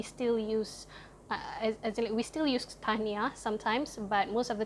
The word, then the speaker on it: Tahniah: say congratulations, you say Tahniah. It's I don't know if it's 2 syllables or 3 syllables, Tahniah, but you say it really fast, like Tahniah.